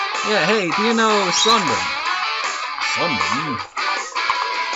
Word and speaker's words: Sun Yat-sen: Yeah, hey, do you know Sunburn? Sunburn? I think we call him Sun Yat-sen in English. I think you probably butchered the pronunciation of his name.